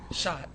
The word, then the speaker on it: Schacht: introduced this is Trace how do you say your last name shot shot like Mar shot yeah no it's probably